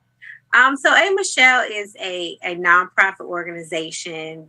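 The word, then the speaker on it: A'Michealle: yes a is it a michelle is it pronounced michelle that's it it's pronounced michelle and so what is a michelle um so a michelle is a a non-profit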